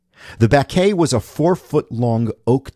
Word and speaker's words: baquet: It was French. B A Q U E T, pronounced baquet. The baquet was a 4-ft long oak tub filled with water, iron filings, and powdered glass.